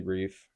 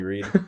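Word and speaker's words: Reiff: They lost Riley Reef. Not Riley Reed. Riley Reef to New England.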